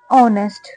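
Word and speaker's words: honest: यह जो वर्ड है एच से शुरू होता है और एच की जो साउंड है वह है होती है है ना लेकिन यह जो वर्ड है य ऑनेस्ट प्रोनाउंस किया जाता है ठीक है क्या बोलते हैं इसे ऑनेस्ट ठीक है इसे नेस्ट नहीं पढ़ेंगे ऑनेस्ट का मतलब होता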